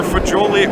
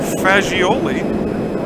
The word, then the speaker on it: Fagioli: I was talking to her earlier, and she says that her name can be pronounced either Fagioli or Fagioli, depending on how Italian you are.